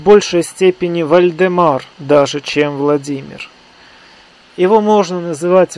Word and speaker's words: Владимир: степени Вальдемар даже чем Владимир его можно называть вальдемаром поскольку он контактировал соответственно с варяжским миром а варяжском произношении имя Владимир звучит как Вальдемар и даже в таком